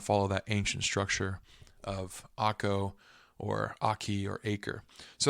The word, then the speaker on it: Akko: But Akko is the current name, at least in the Hebrew pronunciation.